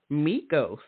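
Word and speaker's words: Meeko: launched your lifestyle brand meos now am I saying that correctly I am you are saying that correct it's funny I so I it's it's basically my last name spelled phonetically instead of that just because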